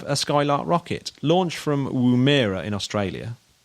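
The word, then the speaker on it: Woomera: Uh we have uh we have a Skylark rocket launched from Wuira in Australia. Is that how you pronounce it? Wuira.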